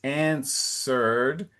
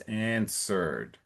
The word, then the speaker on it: answered: the first line it's answered and so the it's like the W is silent so you don't have to say answer It's answered.